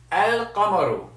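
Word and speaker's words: القمر: a moon letter and if it's a moon letter then that means you pronounce the lamb so you say El Camaro and as I said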